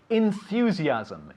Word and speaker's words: enthusiasm: Enthusiasm. Enthusiasm. Enthusiasm. Practice this one. It's not easy, is it? Enthusiasm. Ending with an M. It's very important to hear the M at the end.